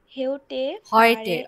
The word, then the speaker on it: heute: G thank you আপু এরপরে কে পড়বেন এরপর মাহমুদা বিথি আপু পড়বেন জি আপু এটা পড়ুন Die Busfahrt heute অয় হবে heute আপু sorry heute fahre